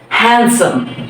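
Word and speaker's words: handsome: last word আমরা বলি হ্যান্ডসাম ওহ কি সুন্দর হ্যান্ডসাম আসলে হ্যান্ডসাম না এখানেও ডি এর কোন উচ্চারণ নেই হ্যান্ডসাম হ্যান্ডসাম হ্যান্ডসাম তাইলে স্যান্ডউইচ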